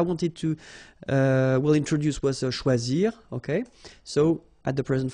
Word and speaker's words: choisi: Same rule, you don't pronounce them, so phonetically you will have choisi, choisi, choisi, choisi, choisi, choisi, choisi, and choisi. So the same phonetical form, okay?